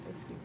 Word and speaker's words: Eskew: Eskew, is that how you pronounce his name? Yeah. Eskew.